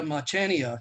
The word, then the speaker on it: Machaniuk: And then Maria Machaniuk. And yes, that is how you say that. That's probably the most mispronounced name that we have.